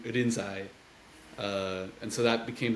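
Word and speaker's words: Rinzai: century China uh who's whose name in Chinese was lingy in in Japanese uh would be pronounced more in irinsai uh and so that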